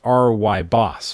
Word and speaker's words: Rooibos: Let's start with drink number 5, Rooibos tea, pronounced R-Y-BOS for those unfamiliar.